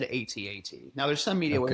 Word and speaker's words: AT-AT: So, as an uncultured white guy, I can tell you, I've always done my acronyms as the letters, so I've always said AT-AT. Now, there's some media where it Okay. says AT-AT.